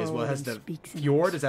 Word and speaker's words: fjord: It has the fjord, is that how you say it?